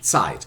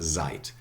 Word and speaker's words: Zeit: word tied in english in german sight the zed in german it's always yeah and africa not zeit sight sight okay i have the